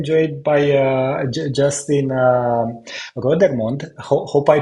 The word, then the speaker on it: Rodermond: uh today I'm joined by uh just in rodermond hope I pronounced your last name correctly exactly and I